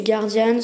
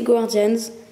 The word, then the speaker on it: Guardian: a écrit guardian donc le nom du jeu savent aussi se prononcer guardian mais techniquement si on a un bon accent anglais voilà c'est gordian planes tarn ce qui